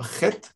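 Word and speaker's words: חטא: Слово "chet" пишется именно так, с алифом в конце. Алиф не произносится и не произносится.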